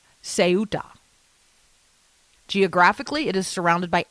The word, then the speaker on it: Ceuta: And it is spelled Ceuta, pronounced Ceuta.